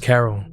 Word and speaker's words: Khairul: She was born to a woman named Khairul Abdul, sometimes pronounced Carol, and a man named Parmjit Singh.